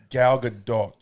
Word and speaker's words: Gal Gadot: because i spit hard you got to say it right gal gadot she it's it's it's israeli so it's got this little thing on it and then